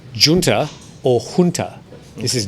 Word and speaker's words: junta: english but i think most people would tend to sound the initial j as in just political commentators and news readers however sometimes will pronounce it as hunter well the correct pronunciation